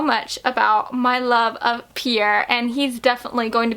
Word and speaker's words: Pierre: don't know what it is like pierre like i i feel like i have to say it with an accent because that name just sounds like it deserves a person with an accent to pronounce it but i just i can't imagine his name being perry cause no offense to